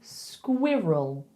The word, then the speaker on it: squirrel: bowl, R, R, R, because we say squirrel, squirrel, squirrel. And then it's a dark L at the end. Push the tongue up to the top of your mouth.